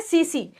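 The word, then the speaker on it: tsetse: सीसी spelling देखना, टिसी टिसी, बट हम इसको बोलते क्या है? सीसी।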